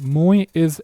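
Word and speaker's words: muy: But this Y is pronounced as an I. Spanish I. Remember in English you say I. In Spanish is E. Okay? It's this kind of sound E. So when you read this mui, it's almost as if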